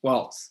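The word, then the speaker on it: Walz: that correctly tommy yes pronounce just like the dance okay waltz perfect uh from barry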